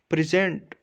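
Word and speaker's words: present: For example, अगर हम noun को, अगर इसको नाउन की तरह प्रोनाउंस करें, अगर ये किसी जगह पे एज अ नाउन यूज़ हुआ है तो फिर हम इसको प्रेजेंट प्रोनाउंस करेंगे, हम PRE पे ज़्यादा ज़ोर लगाएंगे, जिसे स्ट्रेस कहते हैं।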